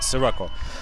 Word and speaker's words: Sirocco: when I say shirako oh it's Rocco like with an S not with the XI or Z or its classic has Sirocco Sirocco actually represents the